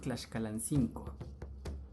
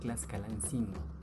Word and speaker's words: Tlaxcalancingo: La pronunciación correcta, según algunos abuelos que aún hablan náhuatl, es Tlaxcalancingo. Pero, con el paso del tiempo, la pronunciación se ha deformado y hoy la mayor parte de la gente dice Tlaxcalancingo.